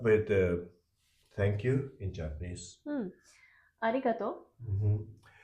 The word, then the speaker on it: arigato: Even if it's written to and u, should be pronounced as to. And the important thing is that the final vowel should have one mora. So it's not, this has one and this has one. So to has two moras. Okay. In total, arigato has five moras.